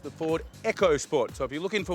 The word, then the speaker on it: EcoSport: what this here is not called the Ford EOS sport it's actually got a silent h in it so silent they don't even print it on the back of the car it's actually pronounced the Ford echos sport so if you're looking for one make sure